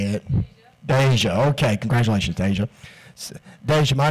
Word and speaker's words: Deja: groom Caroline Newton norisse they come in a mispronounces Donna Shepard a close well how do you say it deja okay congratulations deja vu my name is